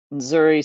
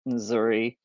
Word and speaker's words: nzuri: So most people just say Habari and then Nzuri. So it's NZ is like nz, and it takes a minute to learn how to do those pronunciations.